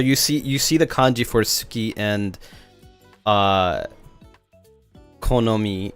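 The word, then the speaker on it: 好き: No, not Tsuki. Suki.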